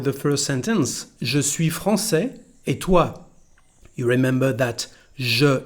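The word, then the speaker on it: français: first sentence je suis francais etua you remember that je is very soft je suis francais francais with here our sesadia to soften the pronunciation of the letter c and we get francais so the pronunciation now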